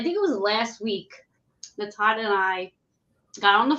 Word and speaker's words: Natan: It's actually said how it's spelled, Natan.